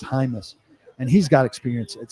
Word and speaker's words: Jaimes: His last name is Jaimes, but it's pronounced Hymas, and he's got experience at center as well.